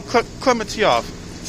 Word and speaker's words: Klementieff: I can't pronounce her last name. Palm Klementieff.